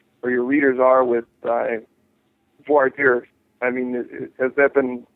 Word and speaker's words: voir dire: And that's called, for anyone who's kind of new to the whole jury independence movement or jury rights movement, voir dire is the process by which the judge tries